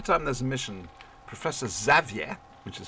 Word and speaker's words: Xavier: you see every time there's a mission Professor Xavier which is how you pronounce his name properly goes to me my